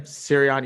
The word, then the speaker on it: Sirianni: Sirianni.